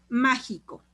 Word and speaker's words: mágico: Por ejemplo, mágico, mágico, está en ma, la sílaba tónica, y es última, penúltima, antepenúltima sílaba, por eso es una esdrújula.